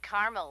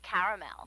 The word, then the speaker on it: caramel: it in Carmel actually you said Carmel when it's pronounced caramel can't we just call